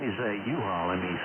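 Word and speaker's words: Juha: Name is U-Haul. Let me spell that. It's Juliet Uniform Hotel Alpha. Again, Juliet Uniform Hotel Alpha. U-Haul.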